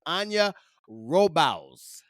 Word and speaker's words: Anja Robavs: bring her on with that I give you Ana robal hey did I say it right yeah that's